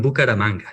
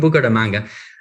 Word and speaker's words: Bucaramanga: So you're from Bucaramanga. Did I say it right? I say it right. Okay, I don't know. They always say that. Oh, you say it wrong. Okay, so you're from Bucaramanga.